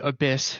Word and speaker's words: Abyiss: Yeah, no, for context, our original name was Abyss, spelled with a Y, so it was Abyss.